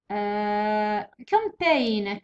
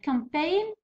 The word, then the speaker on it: campaign: campaign campaign هي هو g.